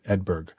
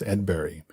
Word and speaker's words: Edberg: In English, his name is pronounced Edberg, but in Japanese, his name is pronounced Edberg, closer to the Swedish pronunciation.